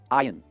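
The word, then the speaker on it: iron: आयन, वो ओएन पे आपको फोकस नहीं करना है, इसकी प्रोनाउंसिएशन होगी आयन।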